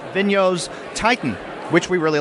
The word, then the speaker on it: Vigneault: issue by issue in hard copy is Francois Villeneuve. Is that how you pronounce his name? Vigneault. Vigneault's Titan, which we really like as well.